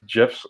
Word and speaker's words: GIFs: can break down to GIFs or GIFs, however you want to pronounce it.